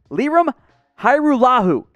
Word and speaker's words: Lirim Hajrullahu: now dumb liam and we will do a full breakdown of the pronunciation for you guys too it's lirum hairullahu this is a kosovo